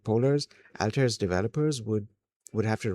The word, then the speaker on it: Altair: now I have to work really hard to forget that alter pronunci that alter pronunciation and say alter instead anyways um if if